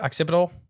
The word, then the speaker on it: occipital: Occipital.